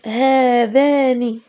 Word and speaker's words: هذان: عن غابه الاركان اذن هذان هذا ايضا تحذف الالف تنطق ولا تكتب هاتان هاتان هاتان فتاتان